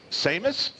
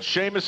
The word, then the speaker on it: Seamus: We have Alex and Seamus. I love Seamus. But you spell it funny. S-E-A-M-U-S? Yes, sir. But you say the H. Yes. It's like Sean, S-E-A. And same concept.